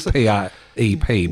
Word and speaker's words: PrEP: So it is PrEP, but with a small r.